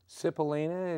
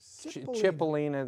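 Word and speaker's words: Cipollina: Quicksilver Messenger Service did I kill that name cilina it's chipolina they pronounce it with a what does John call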